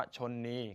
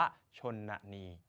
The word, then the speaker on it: ชนนี: ชนนี ชนนี นะ ครับ เรา จะ ไม่ อ่าน ว่า ชนนี คำ นี้ อ่าน ว่า ชนนี ซึ่ง แปล ว่า มารดา